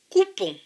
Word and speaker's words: coupon: C avec OU. OU, c'est OU. Donc C avec OU, COU. P avec ON. ON, c'est ON. Donc P et ON, PON. Ce mot-ci se prononce donc COUPON. COUPON.